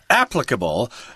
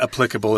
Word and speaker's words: applicable: episode of Star Trek, Spock actually said the word applicable, so that's good enough for me. If Leonard Nimoy pronounces it that way, that's good enough for me. Okay. But applicable is also acceptable.